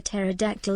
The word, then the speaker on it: pterodactyl: That is because a pterodactyl is P is silent.